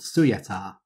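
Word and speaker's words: Syöjätär: culture and is called Suyatar. And that pronunciation is, again, from this Gutenberg project, where they specified that they were spelling it as phonetically as they could.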